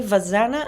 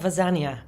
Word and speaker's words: Vazana: hi good morning uh my name is actually vazana and not vzna V okay my apologies